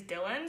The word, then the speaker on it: Dylan: say it by uh how you say it is Dylan so d y Ln but I will still